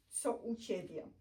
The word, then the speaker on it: co u ciebie: And then the last one is co u ciebie. Co u ciebie. Co u ciebie. Co u ciebie.